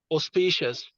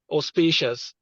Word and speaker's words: auspicious: is pronounced as this auspicious with a stress on the second syllable let's take note of that auspicious what does it mean